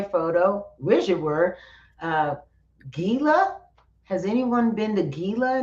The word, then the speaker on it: Gila: Is it Hila? Hila. Hila. I I'm probably pronouncing it wrong. Yeah. G usually say Hila. I think it's Hila.